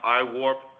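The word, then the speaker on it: IAWRP: uh I awrp conference as it's kind of pronounced iwarp it's the International Association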